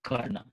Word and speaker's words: Karna: People pronounce Karn also. We pronounce Karna.